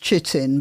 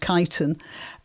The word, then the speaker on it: chitin: it's a substance called kiten which looks like it should be pronounced chitin but it's pronounced kiten and it is uh